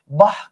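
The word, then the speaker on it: বাঃ: বিসর্গ বিসর্গটাকে আপনি হ ধ্বনি দিয়ে উচ্চারণ করতে পারেন। যেমন দেখেন আমি যদি বলি বাহ কি চমৎকার।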